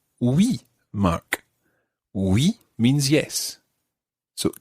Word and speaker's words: oui: So, the word for yes is oui.